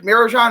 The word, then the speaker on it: Mirajan: Although I do know his manager pretty well, Rick Mirajan. Is that how you say his name? Yeah.